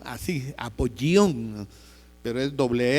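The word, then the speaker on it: Apollyon: Se escribe con doble l y con y como quien dice apoyón. Así, apoyón, pero es doble l y una y.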